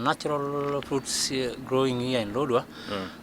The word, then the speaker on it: Lodwar: them are ancestors, there were some natural fruits growing here in Lodwar, like Hedapal, one of them Hedapal, and others.